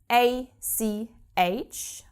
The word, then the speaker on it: ach: So, for example, we have ACH. This is pronounced ach. This is not a word, it's just a combination of letters that occurs in many, many words. So, after the A, after R, you always have this guttural CH, ach.